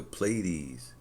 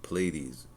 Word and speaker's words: Pleiades: locating the Pleiades.